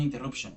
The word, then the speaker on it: interruption: Ahí muere, termina la pronunciación de la palabra, pero en inglés es interruption, no hay, es un flujo constante, es más, la misma